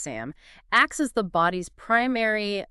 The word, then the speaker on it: SAM: S adenosylmethionine SAM often pronounced SAM acts as the body's primary essentially universal methyl donor.